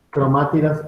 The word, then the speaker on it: cromátidas: Debajo de cromosoma vamos a poner esto, cromátidas hermanas. Con acento en la primera A, se me fue.